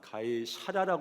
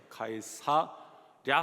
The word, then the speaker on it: 가이사랴: 하리로다 발음만 못 하는 줄 알았더니 가이 사라도 발음을 못 하더라 아 그래서 일부 때도 굉장히 굉장히 당황했습니다 가이 샤라라 해도 혹시 이해를 해 주시고 혀가 그렇게 안 돌아가요 가이사랴 하면 되는데 이거 한번에 붙이면 가이샤라 뭐 이렇게